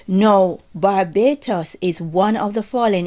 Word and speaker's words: Barbatos: And also, there is another fallen angels that his name is Barbatos, right? I think they pronounce it similar to Barbados as well.